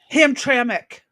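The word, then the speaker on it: Hamtramck: Hamrak or Ham Ham Tramik.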